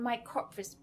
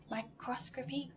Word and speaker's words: microscopy: The one that I'm going to focus on is her attacks on micropracy, I'm still not saying it right. Can anyone say it correctly? Microscopy, good.